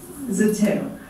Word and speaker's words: Zeteo: He's, in his current avatar, he's the founder of media platform Zeteo. Am I pronouncing this correct? Yes, you are. Zeteo, for independent and unfiltered journalism.